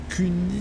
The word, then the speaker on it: Kuni: Donc, globalement, on est en 53 TP et on est avec Kuni 69. Alors, je vais prononcer ça Kuni parce que UN, ça fait 1 et il y a 2 N.